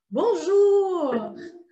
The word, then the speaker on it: bonjour: para cumprimentar primeira delas Bonjour Bonjour então a pronúncia é Bonjour Bonjour Jour então o bom é um pouco nazal tá bom bom e